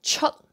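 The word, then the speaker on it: chuet: Okay, so other words end with T, so like C-H-U-E-T, go out that chut, chut, so don't pronounce that T, chut, no T, chut, chut, chut.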